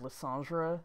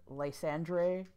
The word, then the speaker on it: Lysandre: In case you're wondering, by the way, where I'm getting the pronunciation of Lysandre, it's from the French version of Generations.